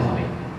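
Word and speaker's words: ح: এই কণ্ঠের শুরু, মধ্যখান এবং শেষ ভাগ, এই গলা এবং কণ্ঠনালীর মধ্যখান থেকে এই হরফটি উচ্চারিত হবে।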